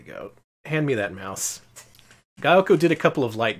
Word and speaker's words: Gaelco: Gaelco. That's how you pronounce it. They told you. Gaelco.